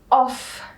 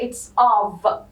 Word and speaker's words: of: All of these we call prepositions. But you should be aware, لازم تكون منتبه. حلو. For these two words. Okay? Okay. This is, we don't pronounce it as of.